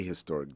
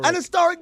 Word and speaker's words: historic: well there you go I always say a historic day because the H is not silent unless you're some corol